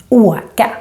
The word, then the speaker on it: åka: So åka is a useful word, and remember that it's pronounced with a long version of the å. Åka.